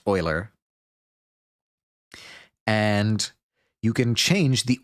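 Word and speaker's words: Euler: uler um excuse me not uler oer this is this has been drilled into my head so I don't know why I still get it wrong the name is pronounced Oiler and you can change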